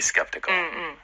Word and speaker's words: skeptical: 네, S-K-E-P, 그다음에 T-I-C-A-L 발음할 때 뜨끄뿌 이런 게 많이 나옵니다. Skeptical. skeptical 해서 Yeah. skeptical 아니고 No. skeptical 해서 그냥 끄뜨뿌 이렇게 발음이 되거든요.